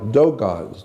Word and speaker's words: Dogon: Yeah, like Dogons. It's spelled D-O-G-O-N. Dogon, not Dagon.